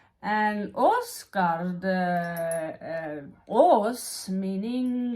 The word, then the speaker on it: Åsgard: And he lives in a place called Åsgard. And Åsgard, Ås meaning like a big hill.